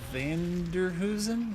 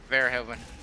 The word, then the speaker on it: Verhoeven: Director of RoboCop, Paul Vanderhoosen? Is that how you say it? Verhoeven.